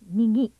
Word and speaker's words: 右: This kanji is pronounced "migi," meaning right.